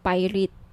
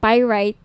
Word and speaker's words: pyrite: ng bracelet ito yung pirate pirate sorry pyrite yung iba pronunciation pirate pyrite Okay 1,980 each may